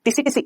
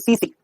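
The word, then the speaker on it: tsetse: का मतलब होता है मक्खी क्या बोलूंगा इसको टसी टसी नहीं इसको हम बोलते हैं सीसी सी सी मक्खी आप बोलोगे सर यहां तो टीए स टीएससी लिखा हुआ है बेटा टी साइलेंट है टी साइलेंट है अंग्रेजी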